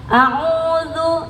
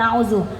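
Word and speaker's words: أعوذ: Jadi saya mengingatkan auzu ya bukan azu.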